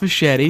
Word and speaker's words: Machete: acclaimed machete movie machete yeah machete machete it's pronounced machete i didn't know spanish i didn't know machete